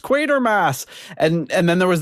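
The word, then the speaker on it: Quatermass: look at it and I think of the word quarter with no R and I think quarter.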